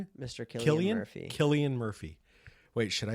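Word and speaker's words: Cillian: Sillian Murphy. I don't know. I really don't know how to say his name. If it's Killian, I heard him on an interview.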